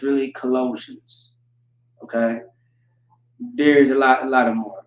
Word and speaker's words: Colossians: For example, Colossians. It's really Colossians.